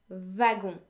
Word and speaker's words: wagon: But what I really want to draw your attention to here is that W is actually pronounced as if it were a V in French.